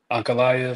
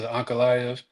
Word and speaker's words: Ankalaev: You know, a win for Pereira, a win for Ankalaev, I think that's how you pronounce his name.